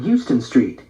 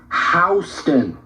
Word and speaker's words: Houston: "I saw him on a huge billboard yesterday on Houston Street," Mimi said, pronouncing the street's name as one would the city. "Where?" "Houston Street." "Houston," Lena corrected.